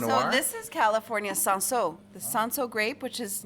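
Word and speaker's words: Cinsault: I'm glad to know that it's called Sanso from people that speak French. I've been calling it Cinso this whole time.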